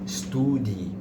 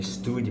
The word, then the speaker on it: study: Então, cuidado também com a palavra study. Muitas vezes os alunos é costumam falar study, né? Study, mas o certo é study com assim.